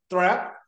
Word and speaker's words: Thrapp: so so I would like to welcome thra am I saying the last name correctly you